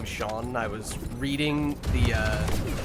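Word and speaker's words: Sean: fairly famous actor uh his name is Shawn Bean but it's spelled scene Bean if you don't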